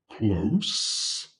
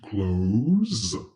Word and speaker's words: close: So when we have the adjective close, it's pronounced s. But in the verb to close, it's pronounced z.